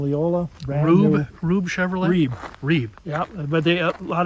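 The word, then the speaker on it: Rueb: ree Chevrolet in Leola rub rub Chevrolet ree ree yeah but they a lot of people called it rubbe but it's ree Ru e b that's how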